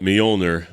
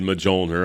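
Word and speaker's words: Mjölnir: who called it majilder I used to pronounce it as a kid majoner I had no idea what how to pronounce that I would say majulner I think my friend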